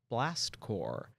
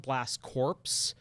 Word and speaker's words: Blast Corps: don't know about called Blast core uh it's spelled blast corpse c o r PS but you pronounce it as core in the English language